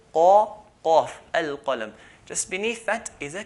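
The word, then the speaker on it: القلم: And the Khalij, the Gulf, Saudi, Kuwait, and so on, instead of saying al-qalam with the qaf, they change it to a g, al-galam.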